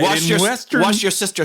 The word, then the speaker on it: Worcestershire: Yeah, Worcestershire sauce. All right. Wash your sister sauce.